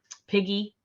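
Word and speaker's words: PIGE: some research development and piggy is how this is pronounced of uh it's another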